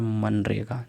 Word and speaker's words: मनरेगा: ठीक है ना और इसको पढ़ा जाता है मनरेगा जहां पर जी साइलेंट होता है अगला कथन है